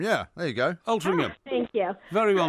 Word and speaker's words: Altrincham: at, I'm going to say it wrong, but Altrincham Market. Altrincham, yeah, there you go. Altrincham. Oh, thank you. Very well known to us. Not far from Nantwich, actually. Actually, it is, yeah. Yes, that's excellent. Well, Altrincham is very close to Manchester, Tarin, and as